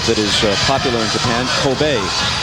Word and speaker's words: Kobe: is popular in Japan, Coobe steak. Coobe beef. And eventually after they took the name from that K O B E, people started pronouncing it Kobe and that's what stuck.